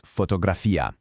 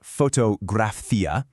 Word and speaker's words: fotografía: In Spanish, that's fotografía. And the key here is the stress on that I at the end. It's not fotografí-a, it's fotografía.